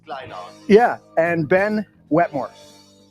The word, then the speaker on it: Kleyhans: Kleyhans. It's real old German, you know, so it's Kleyhans.